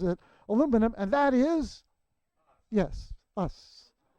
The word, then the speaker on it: aluminium: for 71 years and I finally learned that the correct way to say it is aluminium so gemini or Gemini